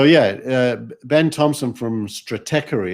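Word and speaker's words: Stratechery: uh ben thompson from strategy as i pronounce it apparently that's not the american pronunciation he's a good writer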